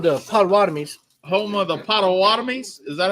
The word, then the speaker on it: Potawatomis: Home of the Potawatomis.